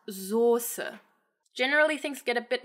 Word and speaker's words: Soße: So this word is not pronounced Soße, but it is pronounced Soße.